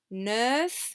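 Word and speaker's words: neuf: remember the word careful we do tend to pronounce the final f nerf shen nine dogs and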